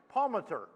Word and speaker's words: Palmatier: one in the middle was made by Palmatier. Did I say that right? Where's? There you are. I asked you how to pronounce that earlier. How did I do? Palmater.